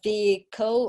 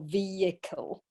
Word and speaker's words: vehicle: this you can say vehicle or vehicle okay but the the H is not pronounced okay so the H